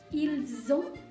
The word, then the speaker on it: ils ont: ini, avoir ini adalah ada bunyi Z juga di situ, yaitu ils ont atau elles ont, ya.